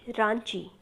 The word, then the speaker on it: raunchy: ठीक है, इसको हम पढ़ेंगे रांची।